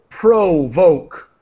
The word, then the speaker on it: provoke: with and to Pro provoke provoke provoke with a with a strong o sound and theme the music